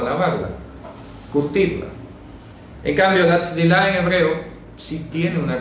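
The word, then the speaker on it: טבילה: Pero esa palabra griega baptismos lo que hizo fue intentar traducir la palabra hebrea tzvilah. ¿De acuerdo? Tzvilah. Se pronuncia así.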